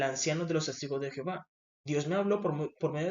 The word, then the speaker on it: Jehová: En Latinoamérica lo pronunciamos con J, Jehová. Pero en el hebreo no se utiliza la J, sino que se utiliza la y es Jehová.